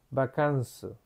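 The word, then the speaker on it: バカンス: Eso quiere decir que es una palabra extranjera y se lee vacanzo. Viene del francés, de cómo se dice vacaciones en francés.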